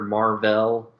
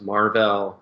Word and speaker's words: Mar-Vell: befriended the Kree warrior Mar-Vell. It was Mar-Vell, not Marvel. Mar-Vell. It's subtle.